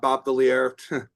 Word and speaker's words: Valier: My name is Valier, rhymes with queer.